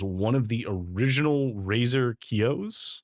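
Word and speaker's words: Kiyo: In fact, uh this webcam is one of the original Razer Kios. I think Kio is how you say it. uh K I Yo.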